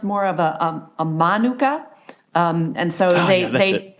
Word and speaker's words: manuka: more of a a manuka um and so they they switch the emphasis a little bit different emphasis on the different syllable or whatever you know